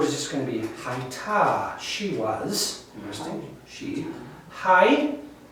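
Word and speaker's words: הָיְתָה: And the earth, this next word is just going to be haita. She was. Interesting. She. Hai, H-A-Y. The T-A follows that, and the H is silent at the end.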